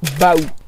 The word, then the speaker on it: baou: ça voilà c'est mieux le nom provient du mot provinçal Baou qui s'écrit B a u mais qui se prononce donc bien Bou et qui signifie lieu